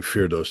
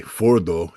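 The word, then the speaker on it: Fordow: People need to understand that I keep saying Firdos. That's just because I'm an ignorant American early in the morning on a Sunday. Fordo is the appropriate pronunciation. I've been educated on that one.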